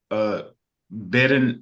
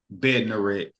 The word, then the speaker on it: Bednarik: Noah Lyles and Noah Lyles and the Kenny Bedden. Hold on, how do you pronounce his name again? His last name? Oh yes, the respect or don't respect this week is about Noah Lyles versus Kenny Bednarik.